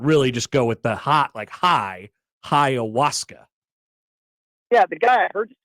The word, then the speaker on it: ayahuasca: Ayahuasca. Well, that was your best one yet. Okay. So think Hiawatha, but it's ayahuasca.